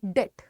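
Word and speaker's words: debt: तरीके से करते हैं कोई उसको कहता है डेबिट ठीक है कोई इसको कहता है डेट लेकिन इसका सही उच्चारण है डेट ठीक है इसका सही उच्चारण है डेट नहीं तो ये डेबिट है ना ही तो ये डेबिट है ठीक है ये है डेट डेट आप बोलेंगे और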